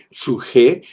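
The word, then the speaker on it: ψυχή: El suje, que se escribe P-S-U-J-E, suje, que es la parte psicológica del hombre, y es la palabra vida para hablar de la vida del alma.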